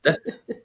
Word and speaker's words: debt: Debt. Yeah, I think is debt. You you disagree that B is silent.